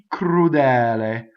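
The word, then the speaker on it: crudele: So we'd say ccrudɛle. Ccrudɛle. See, double K sound. We've already gone over how to do it. Open E and a single L.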